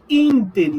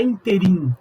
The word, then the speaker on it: ínterim: Tem várias outras, arquétipo, ínterim, não é interim, é ínterim. É protótipo, não é prototipo.